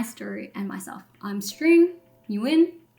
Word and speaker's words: Nguyen: I'm String Nguyen. Yes, you win. That's how you say it.